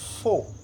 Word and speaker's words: four: Et ici, nous avons four, on écrit four, mais on lit faux. Four, faux, parce que le R a tendance à être prononcé, mais le R est aspiré.